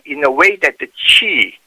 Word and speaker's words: Qi: a way that the chi chi is spelled as Qi pronounced as Chi this Chi is a